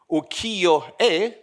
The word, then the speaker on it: Ukiyo-e: Western societies, in this, how do you pronounce it? Ukiyo-e? Great. Good pronunciation.